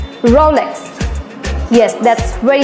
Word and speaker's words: Rolex: about this Rolex brand so how you can pronounce it it is draw legs come on speak with me Rolex Rolex yes that's very correct here comes the next